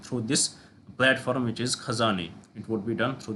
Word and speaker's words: Khajane: They came up with the idea of the khazana, even though it is khajane written here, but the ideal pronunciation of it is khazane.